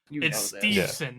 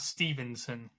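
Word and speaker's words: Steveson: problem with pcing names stevon not Stevenson yes I have problems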